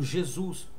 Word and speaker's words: Jesus: Mas por que Jesus porque o s na nossa língua entre duas vogais ele assume o som de z por isso Jesus e não Jesus beleza